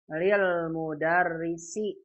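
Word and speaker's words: لِلْمُدَرِّسِ: Oh lamnya double. Oh berarti ini bukan alif lam dibacanya lil mudarrisi karena ada li kasrah. Kalau alif lam begini nulisnya al mudarris misah dengan lam. Ini namanya al-mudarrisu. Kalau yang ini lil mudarrisi.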